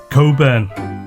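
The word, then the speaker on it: Cockburn: They'd ask me my name and I'd say Coburn. But I am more often than not always asked to spell it out. C O C K B U R N, which spells nothing like the sound of the name I've just given.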